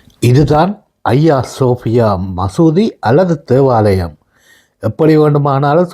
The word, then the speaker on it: Hagia Sophia: முதலில் இந்த பெயரை எப்படி உச்சரிப்பது என்பது பலருக்கு தெரியாமல் இருக்கலாம். ஆங்கில உச்சரிப்பின் படி ஆகியா சோபியா என்று பிளையாக உச்சரிப்பீர்கள். உண்மையில் இதை ஐயா சோபியா என்றுதான் சொல்ல வேண்டும். இது உண்மையில் ஒரு கிரேக்க மொழிச்சொல் கிரேக்க மொழியில் ஐயா என்றால் புனிதமானது என்று அர்த்தம். உதாரணத்துக்கு புனித அந்தோனியார் என்றால் ஐயா